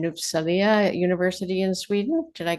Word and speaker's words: Uppsala: Children's Health and you'll have to correct my pronunciation, Uppsala University in Sweden.